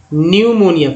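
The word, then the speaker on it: pneumonia: न्यूमोनिया, P silent है, पी के बाद जो है एन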